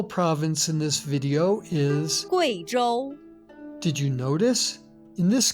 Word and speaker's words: Guizhou: In the name of this province and its capital, the U plus I is pronounced Wei, not we. Listen. Guizhou.